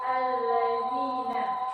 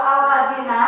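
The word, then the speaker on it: الَّذِينَ: Apa bacanya? Alladzina. Lamnya nggak boleh hidup. Cari lagi. Kalau al-lazina seperti yang dikatakan oleh si Anji, Bu ada Bu ini al-lazina, ya kan?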